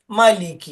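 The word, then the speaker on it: مَلِكِ: മലിക്കി, മലിക്കി. ചില ആളുകൾ തോന്നുമ്പോൾ മലിക്കി എന്ന് പറയാറുണ്ട്. കാഫ് ഷെദ് കൊടുത്തിട്ട് പലരും പറയാറുണ്ട്. അത് ശരിയല്ല. ഷെദ് കൊടുത്തിട്ടല്ല, മലിക്കി ഇത്രയും പറഞ്ഞാൽ മതി.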